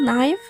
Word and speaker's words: knife: For example, knife. No, we don't say K or we don't pronounce letter K in the word.